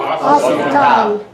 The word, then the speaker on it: hospital: Hospital, don't pronounce the H.